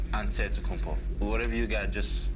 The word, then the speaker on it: Antetokounmpo: pronounce the it way you gotta say with the d so it's a deadpool but in the greek way you say with the nt like antetokounmpo whatever you got just